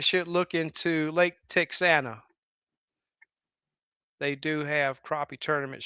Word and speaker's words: Texana: Yeah, Texana. I think that's the way it's pronounced.